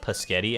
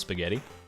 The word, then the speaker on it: spaghetti: has a pisghetti energy anyone ever say pisghetti when they were a child instead of spaghetti or maybe you still say it nowadays and you just are just now learning that it's pronounced spaghetti if so i'm happy